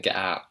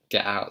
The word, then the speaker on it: get out: So she's not saying out, she's saying get out. Get out. So she's really heavily pronouncing that got glottle stop there.